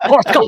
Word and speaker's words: Koshka: It has to be like that twang at the end, and that hard on the first syllable. oh Koshka.